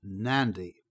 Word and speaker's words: Nadi: For instance, the airport we've just seen is at a place which is spelled Nadi, but it's pronounced Nandi.